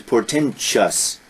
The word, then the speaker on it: portentous: Now that's interesting because here, although it ends T-O-U-S, the pronunciation is portentous.